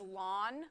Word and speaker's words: ln: so that's why it's Ln really really old people like me and maybe your professors we used to pronounce this as lon we kind of stopped